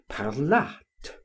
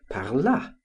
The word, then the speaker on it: parlât: I was struck with the word parlât, and found a T was necessary to form the third person of the subjunctive, whereas I had always written and pronounced it parla, as in the present of the indicative.